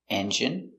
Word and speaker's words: engine: Words ending in ine can have different pronunciations. All of these have the sound in. Imagine, examine, engine, discipline, feminine, and masculine.